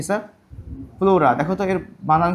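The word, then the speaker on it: pleura: আবরণী আমরা ছোটবেলা থেকে পড়েছি ফুসফুসের আবরণীর নাম কি স্যার প্লুরা দেখতো এর বানান কি পি এলই ইউ আর এ লিখে ফেল প্লুরা কিন্তু ইংলিশে উচ্চারণের টাইপ মানে ইংলিশে বানানটা কেমন হবে প্লিরা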